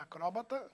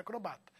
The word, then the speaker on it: acróbata: Com acento é acróbata, sem acento é acrobata.